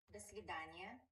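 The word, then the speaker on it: до свидания: das vidaniya Oh, so the s isn't really pronounced? You pronounced "do svidaniya" correctly. Start with "da".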